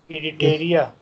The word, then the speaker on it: Eritrea: a doctor from Itri Eritrea Itria Itria In English we say Eritrea Okay, Eritrea, Eritrea.